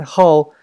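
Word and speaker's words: 好: eyes to love and how it's not how anymore the pronunciation has been changed into the fourth tone and the meaning has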